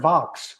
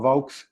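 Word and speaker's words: Vaux: found out some something calvert vox rhymes with rocks who knew r.o.c.k.s calvert vox not vogue or vox vox and olmsted from connecticut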